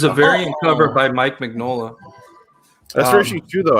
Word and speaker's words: Mignola: yeah it's uh um it's pronounced it's pronounced mignola um tim sheridan and